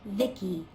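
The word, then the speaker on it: VICI: guns by the way i'm the ici pronounced vicky my creator was bibi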